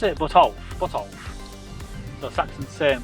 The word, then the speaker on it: Botolph: Is that how do you pronounce it? Botolph? Botolph. The Saxon saint Botolph was a Saxon nobleman who built a monastery at what is now Boston.